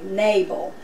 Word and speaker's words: Nabal: actually in the Bible it's the accent is on nay nabal so I'll try to